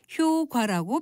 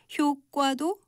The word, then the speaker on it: 효과: 이와 비슷한 경우의 예로 효과라고 표기하는 단어를 들 수 있습니다. 이것은 본래 효과만 표준 발음이었지만 통용되는 발음을 인정해서 두 번째 음절을 된소리로 발음하는 효과도 허용한 것이죠.